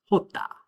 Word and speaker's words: jota: The letter J in Spanish is pronounced jota. All right, so I tried to spell it out the way that it would sound in English, jota. It's similar to the H in the word hut, and an example word